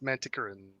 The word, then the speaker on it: Manticoran: guide to the narrator and said it is pronounced manticoran well that's why he has libya 9 people